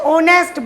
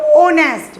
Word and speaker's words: honest: Surya is dash honest boy. So since in this word H is silent, so we have to speak out honest with O, with a vowel sound O.